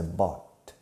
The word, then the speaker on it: bought: on the three days last week yes I bought the same newspaper by bought by bought notice the pronunciation by bot bring brought catch caught fight